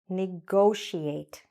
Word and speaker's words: negotiate: Negotiate. Okay? Here the stress is on go. And this part, I know it's confusing because it's like T-I-A-T-E, right? But what we're really saying is something like she ate.